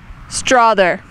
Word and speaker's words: Strother: Is it pronounced Strother or Strother? Strother. I think I would know. I think it's Strother. How do you feel about assists?